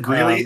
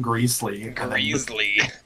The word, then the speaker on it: Greeley: Grizzly whatever really really you said it right the first time you said Greeley and then greasley this greasy place or